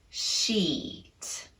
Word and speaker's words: sheet: up our tongue very high in the mouth which includes making contact with the side molars keep it muscularly tense and lengthen the duration of the vowel sheet we can apply those